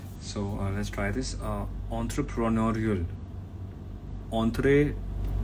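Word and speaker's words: entrée: Entree. Sit. That's right. Entree.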